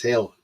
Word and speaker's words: Gil: Because you don't pronounce it as Gill, you pronounce it as Hill.